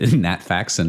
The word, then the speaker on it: Nat Faxon: Uh Nat Faxon, am I am I pronouncing that name correctly? Nat Faxon is correct.